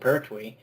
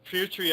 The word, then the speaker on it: Pertwee: Well, And Petrie, I think Petrie was in his 60s though. I love your pronunciation of some of these actors' surnames. Pertwee.